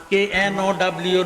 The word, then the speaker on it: know: নো অর্থ কি না, KNOW নো অর্থ জানা। দেখছেন নি কত বড় ডিফারেন্স? জ্ঞানী গুণী ভাই বাবারা বন্ধুরা, এখানে কের উচ্চারণটা সাইলেন্ট থাকবে।